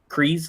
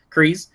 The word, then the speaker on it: Kryze: That actually takes front and center, where you have Bo-Katan and Clan Kryze, I think is how you say it. Yeah, Kryze.